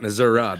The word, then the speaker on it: Missouri: about in Missouri okay Missour yep Missoura that's right they pronounce it that way down there Kenzie it's a